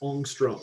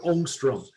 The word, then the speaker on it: ångström: And actually, if we're going to pronounce it right, it's a Swedish A with a circle on top, and it should be pronounced ångström or ångström.